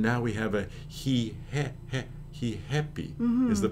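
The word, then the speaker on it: Ri Happy: the name of this store how would you pronounce it as a Brazilian he happy he happy and so notice you take the word happy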